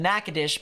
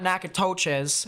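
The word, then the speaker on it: Natchitoches: nakadish here in Louisiana notice how I said nakadish because I actually remembered it from the last stream um it's not nacotoches it's uh nakadish so we have a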